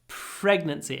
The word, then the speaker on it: pregnancy: Pregnancy, again, try to do lots of aspiration. Pregnancy. Between the p and the r.